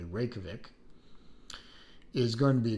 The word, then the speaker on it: Reykjavik: capital of Iceland, and I am pronouncing it correctly, Reykjavik, is going to be a green dial, and then there will be a New York, which is a blue dial.